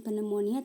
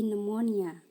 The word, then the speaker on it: pneumonia: Kalau yang ini ada juga silent P, silent PN, contohnya psychology, pneumonia, bukan pneumonia tapi pneumonia.